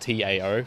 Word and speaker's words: Tao: It was like, Tao, it's spelled T-A-O, but I think it's pronounced like Tao or something.